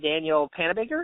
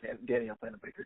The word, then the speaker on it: Danielle Panabaker: But then they redeemed themselves with introducing the other character, who was played by, you said it, Danielle Panabaker?